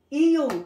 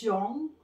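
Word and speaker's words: 이응: Pag ito ginamit na sa word, at sa baba na punta, tuturo ko sa, kung ayan, no? Sa baba na punta, ang basa dito is yong, yong, nagiging NG sa baba.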